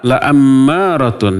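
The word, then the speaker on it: لَأَمَّارَةٌ: Ada inna, ada la ammaratun. Dibacanya la-nya pendek, bukan panjang. Kalau la-nya panjang, malah sebaliknya maknanya menjadi tidak. Kalau la pendek jadi pasti, kalau la panjang jadi tidak. Maka jangan salah baca.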